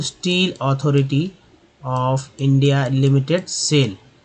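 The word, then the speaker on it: SAIL: अभी सिंगल सिंगल मतलब alphabet के जो लेटर्स होते हैं उसको सिंगल सिंगल जब लिखा रहे तो उसको सिंगल सिंगल उच्चारण होता है, SIL सेल। लेकिन यहाँ पर क्या होगा कि एक नाम ही बन गया ये जो शॉर्टकट है, तो यह सेल पढ़ेंगे इसको इन द 1950s।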